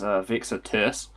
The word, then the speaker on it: Vexatus: Yeah, so by the way, for everyone's reference, the way you pronounce it is Vexatus.